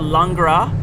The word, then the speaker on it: Langres: it should be runny ours is it's called langra and that's l-a-n-g-r-e-s and it's a cow's milk